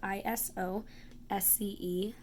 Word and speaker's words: isosceles: is how it's spelled is o s Celes but it is pronounced isosceles so I remember it as I stopped and then a girl I think of her name as the lease so that helps me